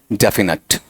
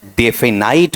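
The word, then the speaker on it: definite: अब थोड़ा थोड़ा सा इसका शुद्ध उच्चारण देख लेना बेटा जी थोड़े-थोड़े तुम्हारे दीदी खुलेंगे डेफिनेट नेट भी नहीं नट ठीक है और हम कई बार डेफिनेट वो भी क्या है गलत डेफिनाइट वो भी क्या है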